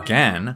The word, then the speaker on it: Gan: Gan, or Gan, if you don't want to pronounce it the original Chinese way, has been said to be the apple of speed cubing.